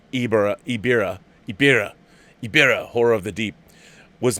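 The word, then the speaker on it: Ebirah: Ibira, Horror of the Deep, pronounced Ibira, Horror of the Deep, was meant for the Toho King Kong initially, hence you have Godzilla not being very Godzilla-like.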